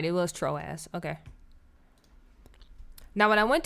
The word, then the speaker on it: Troas: ass turkey oh I was right it was troas okay now when I went to troas to